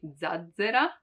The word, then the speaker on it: zazzera: Also because there are not many with double Z, just maybe zazzera. But you see, in the pronunciation, you can't really understand the difference.